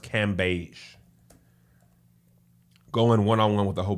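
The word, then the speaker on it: Cambage: this video of liz i believe it's pronounced cam beige going one-on-one with a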